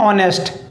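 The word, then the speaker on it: honest: बोलेंगे and power and ऑनेस्ट IS silent है बोन टेस्ट tube baby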